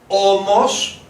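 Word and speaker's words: ώμος: We have the word O, O, S, Omos, and mind the tone, Omos, Omos, which when you see it written like that, it means shoulder.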